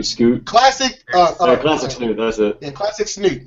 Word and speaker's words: classic snoot: is uh smoy snort was how do you pronounce it again like n scoot classic classic snoot that's it yeah classic snoot yeah classic snoot